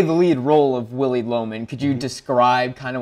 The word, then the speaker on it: Loman: play and I noticed his last name is Loman which is like phonetically low man and how did so